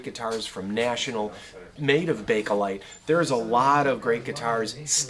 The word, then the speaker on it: Bakelite: about big collide now first of all don't say bake light even though it kind of looks like that's how it should be pronounced because maybe the plastic gets baked somehow no it's bakelite because it was named after its inventor leo bakeland who was a belgian